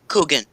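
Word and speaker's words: Kuchen: with fruit and berries they pronounce cooking that sounds good it's cooking if you hear from someone who's german it's cooking well there's a lot of germans here and that's how they pronounce it sounds kind of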